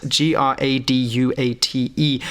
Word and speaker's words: graduate: And some other words that we could include would be graduate, G-R-A-D-U-A-T-E. Same as graduate, the verb, but graduate, the noun, we pronounce differently.